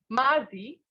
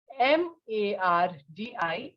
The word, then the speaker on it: mardi: Mardi. Mardi.